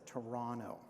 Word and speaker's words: Toronto: those who have now dropped the second T in Toronto and just pronounce it as Toronto.